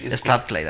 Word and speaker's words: Strathclyde: Si no me equivoco, la universidad en la que estuviste es la Strathclyde. ¿Se pronuncia así? Strathclyde, así es.